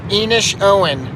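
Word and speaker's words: Inishowen: idiot if i'm talking online or whatever so enish owen that's where um i think i already talked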